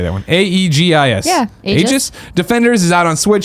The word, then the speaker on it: Aegis: Aegis.